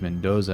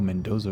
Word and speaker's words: Mendoza: Can't believe I chased Mendoza out. Oh, Mendoza Ray, that's how you say his name. I called him Mendoz.